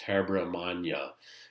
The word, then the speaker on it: Habyarimana: There's some settling with this gentleman, and his name is very difficult to pronounce, so you'll bear with me. But it's Habyarimana, and he becomes the Hutu leader and basically stabilizes the factions between Hutu and Tutsi within Rwanda.